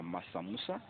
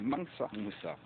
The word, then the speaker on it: Mansa Moussa: Pour ceux qui ne connaissent pas Massa Moussa, Mansa Moussa, je prononce mal le nom de Mansa Moussa, mais c'est Mansa Moussa.